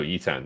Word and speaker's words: Yitan: Or, unless I'm saying it wrong... No, Yitan, yes.